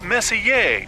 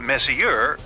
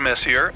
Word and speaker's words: Messier: stands for Messier pronounce Messier not Messier as in is your room messier than mine Charles Messier I mean Messier to